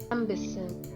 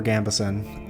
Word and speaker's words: Gambeson: Why is it a minute long to tell me how to pronounce Gambeson? Gambison. Gambison. Gambison. Gambison. Okay, Gambison. I'm just going to trust it.